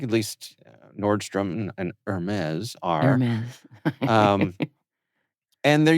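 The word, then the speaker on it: Hermès: And some of the brands include Apple, PayPal, Nordstrom, Hermes. Is that the right way to say it? Hermes? Hermes? No, you Hermes? drop the H.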